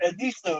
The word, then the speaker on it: Edisto: Because when I first moved down here, I didn't pronounce Edisto right. You said Edisto, didn't you? Yeah, I said Edisto.